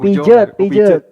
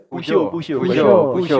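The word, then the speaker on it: Peugeot: Pujot Puso bacanya itu Prancis atau Jerman Prancis at Prancis.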